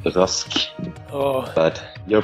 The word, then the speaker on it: Rasch: a special guest, Rach. Actually, why don't you tell me how you pronounce your name? Well, I'm Norwegian, and in Norwegian that name is pronounced Rask.